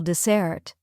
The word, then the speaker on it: dessert: Dessert has the stress on the second syllable desert.